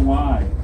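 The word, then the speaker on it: wye: what is called the Y. The Y is spelled W-Y-E and shaped like a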